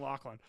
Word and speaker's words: Loughlin: I love you saying Lachlan. That's how you pronounce it, dude.